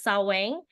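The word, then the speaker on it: Samhain: I pronounce it right I think it's saang okay um it was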